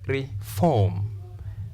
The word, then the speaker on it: reform: stress the second syllable this example reform the first sound is short Vo sound e therefore we say reform long vo sound